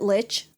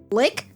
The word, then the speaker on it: Lich: Is it Lich? Lick? Mm-hmm. Yeah, it's pronounced both. I prefer lick because I have a joke.